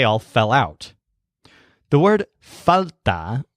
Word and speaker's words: falta: fell out the word falta when you stress foul there felt a-- means lack for example